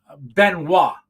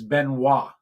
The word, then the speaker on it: Benoit: as well uh but it is uh Benoit but it's uh spelled b-e-n-i-o-t and I couldn't pronounce it in last Monday's uh video uh but he uh a couple people helped me out with that so it's Benoit uh is how you pronounce it and it's a Cajun